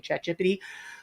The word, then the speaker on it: ChatGPT: That is the proper pronunciation, by the way, ChatGPT.